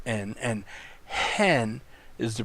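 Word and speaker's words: ἕν: pronounced as n but look at the breathing mark above the second word here the word hen this is the number that Greek number one hen and it's pronounced differently than the you have here the preposition n which is in it's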